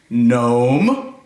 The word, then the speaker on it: gnome: yogi oh my goodness can we find all the silent G words in this sentence gnome there's a silent G right here bright net can you